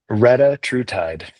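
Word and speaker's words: retatrutide: It's hard for me to pronounce. Yeah. Rea true tide.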